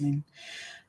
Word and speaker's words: Lin: I know it's spelled L-I-N-E, but it is pronounced Lynn.